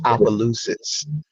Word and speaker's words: Opelousas: Um, How do you pronounce that? it is Opelousas.